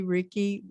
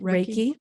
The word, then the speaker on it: Reiki: yes i was there was a ricky am i saying it right reiki reiki there was a reiki